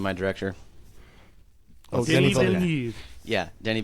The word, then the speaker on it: Villeneuve: Oh, Denis Denis Villeneuve. Yeah, Danny I Villeneuve.